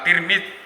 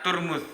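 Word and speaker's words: ترمذ: Imam Al-Bajuri menerangkan bahwa Tirmidz itu yang benar menurut pendapat yang masyhur itu diucapkan Tirmidz dengan tak kasroh. Namun ada juga ulama yang membacanya Turmuz dengan tak domah dan mim domah. Ada juga yang membaca Tarmidz dengan tak fathah ya. Tapi yang masyhur itu Tirmidz.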